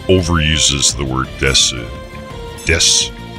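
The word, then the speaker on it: です: Ah, ここに参 whether it's Des or Desu, it's technically Desu, but pronounced Des.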